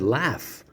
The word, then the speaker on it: laugh: using certain words and it's silent like the word laugh which is spelled l-a-u-g-h yeah or light l-i-g-h-t the g is silent the letter is g